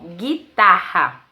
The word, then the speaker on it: guitarra: temos a palavra guitarra na palavra guitarra G1 também é dígrafo pois quando dizemos assim o Gui não pronunciamos o o guitarra bom então guerra e